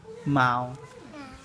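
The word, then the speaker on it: 猫: Mao.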